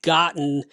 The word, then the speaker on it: gotten: the british form and gotten is the american form notice my pronunciation gotten those t's kind of disappear that's a pronunciation rule